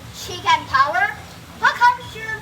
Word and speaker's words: Chihkan: The right The right answer is actually It sounds a little bit like chicken tower, the animal one.